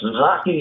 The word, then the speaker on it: Zocchi: On the phone, I have Lou Zaki. And Lou, I want to make sure, somebody told me it's like hockey, but am I pronouncing your last name correctly? Yes, Zaki is the way my name is pronounced.